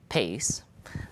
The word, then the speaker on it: PACCE: And PACCE, which I think should be pronounced PACE, in my opinion, stands for the Primary Accelerated Continuity Care Experience.